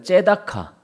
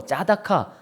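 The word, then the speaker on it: צדקה: 째다카. 아주 유명한 말이에요. 그게 무슨 뜻이냐? 공의라는 뜻이에요. 공의. 호세아서를 배울 때도 인애와 정의와 공의 할 때 그 공의가 뭐냐? 째다카입니다. 뭐 짜다카, 차다카 뭐 여러 가지로 발음이 되는데 근데 지금 이 째다카라는 단어가요.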